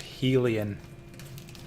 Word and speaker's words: Hylian: Hylian? Apparently it's pronounced Helian. Or Helia? I've heard that somewhere. I don't know if that's actually true, but I heard it somewhere.